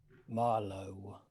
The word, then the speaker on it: Marlo: i have a name marlo is that pronounced right question mark it sounds like it sounds like the elder oaks thanks this is this is a good thing i think they're the wisest trees in the opted wood but i just never know if i pronounce it wish the right way yes marlow the way he says